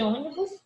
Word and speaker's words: ônibus: De ônibus, a primeira. Tá aqui o acento circunflexo. Tia, eu sei que aqui é a minha sílaba mais forte. Ônibus.